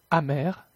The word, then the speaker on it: amer: Cependant, la consonne finale est quelquefois prononcée. Déficit, déficit, cumul, cumul, sac, sac, donc, donc, amer, amer.